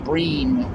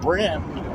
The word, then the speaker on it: bream: Brim, pronounced bream, or pronounced brim, but spelled B-R-E-A-M, the little, and they're a hassle.